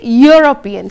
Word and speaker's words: European: that no we say European so again it is a consonant sound you uniform so you